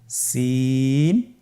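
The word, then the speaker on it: سين: বাকি দুইটি হরফ নাম হল সিন এবংশিন। সিন এবংশিন। সিন হরফটি উচ্চারণ ক্ষেত্রে অবশ্যই তিন আলিফ টেনে পড়তে হবে। সিন হরফটি বারিক হরফ পাতলা করে উচ্চারণ করতে হবে।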